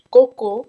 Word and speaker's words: Coco: nossa de coco chanel cocô se pronuncia como cocô cocô cocô e janela você vai